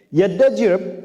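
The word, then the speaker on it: Yazdajird: Yaddajirb punya, susah nyebutnya, Yaddajirb, membacanya begitu, namanya begitu.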